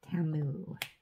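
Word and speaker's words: Temu: to go on TAMU TAMU that's how you say it TAMU according to One Source it's called t-o but they're commercials it's TAMU who knows China mail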